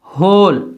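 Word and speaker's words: whole: इस तरह होल, तो डब्ल्यू एच है, डब्ल्यू नहीं पढ़ा जा रहा, होल।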